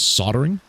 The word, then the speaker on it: soldering: I'm pretty sure the correct way to pronounce this is soldering. Where's Why is that L there? Get out of there.